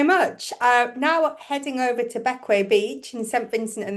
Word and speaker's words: Bequia: So despite being spelt more like Bequia, it's actually pronounced Bequia.